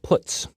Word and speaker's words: puts: are the most popular they are pronounced print F put car and puts each function is designed